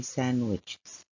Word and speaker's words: sandwiches: it's a silent click we don't pronounce the D when we say sandwiches let's move to activity